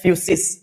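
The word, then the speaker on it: physis: यह भी है फ्यूस तीन अलग-अलग स्पेलिंग देखने को आपको मिलेगा लेकिन तीनों का उच्चारण होता है फ्यूस फसस का ग्रीक में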